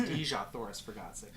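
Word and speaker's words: Dejah Thoris: I mean, he knows it's pronounced Dejah, Thoris, for God's sake.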